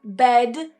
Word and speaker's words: bed: What many Spanish speakers will do is they will say bet and bet. They will say as a t and a t at the end. So make sure you're really voicing that final consonant sound where it's needed.